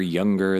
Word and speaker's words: Younger: My name is Younger. That is how you pronounce that.